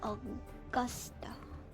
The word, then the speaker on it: Augusta: Augusta. That's how you pronounce it.